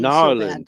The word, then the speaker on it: New Orleans: Narlands. So bad. That's how they say it.